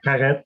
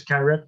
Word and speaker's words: Carette: It's like Carette or just like if you pronounce a Garrett with a G, but this is Carette with a C.